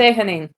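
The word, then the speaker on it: Sehanine: Sehanin? Sehanin? I Say do not Hanin. know how to pronounce that. Sehanin.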